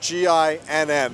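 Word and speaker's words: Ginn: Now, GIN is spelled G-I-N-N and pronounced GIN.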